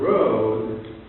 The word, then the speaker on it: rood: Herbert was a big course, the freedom of the road, that's easy, but there's an old word, a very great poem, The Dream of the Rood, R-O-D, which is pronounced in Herbert's time, the road.